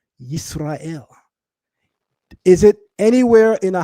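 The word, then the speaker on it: ישראל: That pronunciation captures how our name was pronounced in Hebrew, Yisrael.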